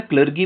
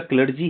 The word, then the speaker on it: clergy: अच्छा, इसको कई लोग जो है ना क्लर्गी बोलते हैं, क्लर्गी नहीं है उसका प्रोनाउंसिएशन, उसका क्लर्जी है, CLERGY, क्लर्जी बोलते हैं, क्लर्जी।